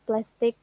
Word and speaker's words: plastic: Look at and listen to this example for the word plastic. There are two syllables, and the first syllable is stressed.